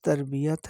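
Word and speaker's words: تربیت: इसके बाद तरबियत है सही लफ्ज लफ तरबियत है पहली ते पर जबर है बे के नीचे जेर है ये पर जबर दूसरी दूसरी ते पर जा यह पर शद डालना बिल्कुल गलत है तरबियत के मानी है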